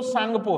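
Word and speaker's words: Tsangpo: है य इंडो सांगपो अब आप सोचोगे सांग में तो एस होना चाहिए लेकिन वो टी साइलेंट होता है इसके अंदर है ना टी एस वाई इस तरीके से लिखते हैं सांग तो ये इंडो सांगपो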